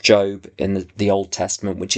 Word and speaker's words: Job: Oswald Chambers wrote a book on the book of Job, spelt Job, pronounced Job, in the Old Testament, which is all about this question.